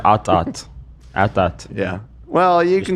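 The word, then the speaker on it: AT-AT: I think it's supposed to be pronounced atat. Yeah. Well, you can call it's called atat. Yeah, the the creators I think clarified at some point. It's like atat.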